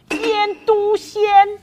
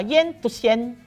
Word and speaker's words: 醃篤鮮: 名字叫做腌笃鲜。我这样发音不对，对不对？应该叫腌笃鲜。